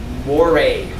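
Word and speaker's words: mores: Look, more serious is a serious norm called a moray. Moray. I know it's written like more, but if it's a norm, it's pronounced more.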